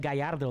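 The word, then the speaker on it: Gallardo: off kudos i said guyardo last week brandon actually pronounced it i heard that come on here we go the double l is uh pronounced like a j there uh and yeah this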